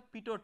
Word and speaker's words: pitot: So the device which is based on this conceptual understanding is known as a pitot tube. So the last T is silent, so it is pronounced as pitot tube.